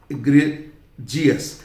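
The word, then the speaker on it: egregious: एक शब्द होता है बहुत बुरा, वो होता है इग्रेजियस। ये जीएस, इग्रेजियस, EGRIGIOUS, ये एक एक्सेप्शन है, ठीक।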